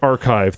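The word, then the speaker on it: arXiv: And I also RX is actually pronounced archive. The X is Greek.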